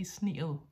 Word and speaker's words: sneede: And sneede, the simple past, is longer. We pronounce it longer than the participle sneet. Yeah, now I'm pronouncing it very clearly. You might go to Jutland and hear sneet, but here in Zealand, we don't say sneet, we say sneel. So the simple past goes sneel, and the participle is sneel.